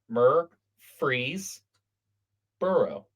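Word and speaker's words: Murfreesboro: Should be mu. It's mur. So, I put an S there, but M U R F R E S B O R O myr freeze burrow.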